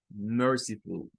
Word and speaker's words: merciful: Recuerden que esta tónica va, sílaba tónica, merciful, merciful, merciful. Las últimas 2 no tienen fuerza de voz, ¿verdad? Solo la primera.